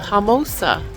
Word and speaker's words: Homosassa: Okay, so that was fun, and I've been saying the name wrong. It's the Homosassa River and Springs, Homosassa Springs.